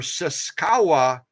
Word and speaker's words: sashiko: have been curious about those sashiko or sasaa as some people pronounce them as well those